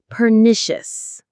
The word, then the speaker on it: pernicious: The stress is on the second syllable. Pericious. Let's say it together. Pernicious.